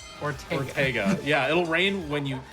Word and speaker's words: Ortega: Yeah, or Orgetta, or how do you say his name? Ortega.